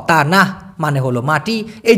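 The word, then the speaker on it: tanah: এবার হলো মালয়েশিয়ান ভাষায় তানাহ টি শব্দটিকে যেহেতু ওরা ত উচ্চারণ করে সেই ক্ষেত্রে হবে তানাহ টি এন এ হেইস তানাহ এই তানাহ শব্দের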